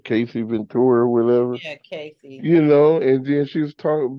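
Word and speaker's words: Cassie: Is that how you pronounce Cassey Ventura or whatever? Yeah, Cassey.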